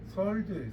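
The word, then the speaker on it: sword: 제가 저번에도 한번 말씀드렸는데 이건 발음을 할 때 우리가 이제 한국에서는 꼭 스워드라고 발음하더라고요. 이게 아니에요. 설드예요, 설드.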